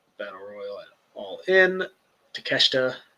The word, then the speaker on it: Takeshita: Takeshita. Did I say it right? Takeshita. Yeah, you did.